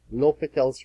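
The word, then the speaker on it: L'Hôpital: really need the famous l'hopital's rule it looks like Hospital it's pronounced l'hopital this is what l'hopital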